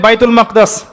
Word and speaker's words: বাইতুল মাকদিস: বাইতুল মাকদিস। সরি বাইতুল মাকদাস না বাইতুল মাকদিস। বিভিন্ন মানুষ বিভিন্ন উচ্চারণ করে।